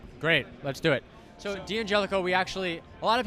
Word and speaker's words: D'Angelico: do you pronounce it well we all say d'angelico which is I find correct but the real correct way to say d'angelico as d'angelico I love the dun Jellico that sounds much better can we do that d'angelico you could say d'angelico hey alright so so